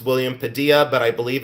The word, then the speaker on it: Padilla: It's pronounced William Padilla, but I believe it's spelled P A D I L L A.